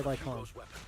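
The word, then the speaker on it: Lycaon: Oh god, you tell him Lycan. Or Lycon, however the hell it's pronounced. Oh no, they say Lycon.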